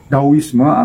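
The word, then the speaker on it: Taoism: antara yaitu yang yang dikenal adalah dawisma atau taisme dan tulisannya tawisma tapi bacanya seperti apa sih kurang sedikit fase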